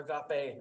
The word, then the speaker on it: agape: that we shift to agape love or agape love as is properly pronounced which is a more